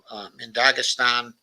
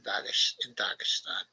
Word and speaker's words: Dagestan: And I think it's Daghestan. I think the H is silent, okay, in Dagestan.